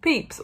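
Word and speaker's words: Pepys: restoration diarist um samuel peeps is his name is pronounced peeps although it is not spelt like that um well i did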